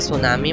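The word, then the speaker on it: tsunami: fact number 11, English का हर एक alphabet silent होता है, जैसे कि सुनामी में टी साइलेंट है और ऐसे ही इंग्लिश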